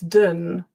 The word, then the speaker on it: London: I often hear people say lon london london but it's not um it is I'll put the phonetic transcription. Yeah, you're right. Yeah, the the dawn is actually awah. It's dun London. London. We got that uh not o on London.